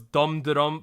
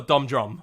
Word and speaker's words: Dumhdurum: the Korean I so it's dum de dum but it's actually like if we wanted to say in English let's call a dumb drum because that's actually what